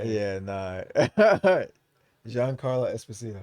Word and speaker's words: Giancarlo Esposito: I fucking love this actor, Johnny Sarlo. I'm sorry if I mispronounced your name, Esposito. He was Gus Freeman and oh, Giancarlo Esposito? see, Yeah, but Giancarlo.